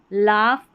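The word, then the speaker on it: laugh: जी एच लिखा गया है फ की ध्वनि के लिए। रफ है। कॉफ कॉफ और यह है लाफ।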